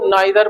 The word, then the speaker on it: neither: अब एक शब्द आता है NEITHER, अमेरिकन में इसको नीदर बोला जाता है और ब्रिटिश में इसको नाइदर बोला जाता है। तो आपकी मर्जी है जैसा बोलना चाहो, नाइदर भी सही है, नीदर भी सही है। नीदर आपका प्रोनाउंसिएट किया जाता है अमेरिकन में, नाइदर प्रोनाउंसिएट किया जाता है ब्रिटिश में। दोनों तरीके से बोल सकते हैं, जैसा भी आपको अच्छा लगे।